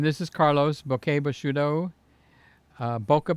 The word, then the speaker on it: bokeh: Boca Bashudo is more like it, but it used to be pronounced Bokeh. Then they went to Boca. Like Boca Raton, Florida, West Palm Beach, Boca Raton, Deerfield Beach, all those cities up the coast. But years ago, it was Bokeh, okay? It's like ISO used to be ASA.